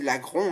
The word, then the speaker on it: Laggron: jour, il s'agit de l'Agron, ou l'Agron. Moi j'aimais bien dire l'Agron avant, normalement c'est l'Agron hein, si on prononce bien.